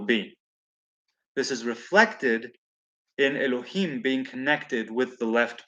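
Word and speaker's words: אלוהים: say english jehovah and the other one is pronounced elohim and it has the punctuation marks of the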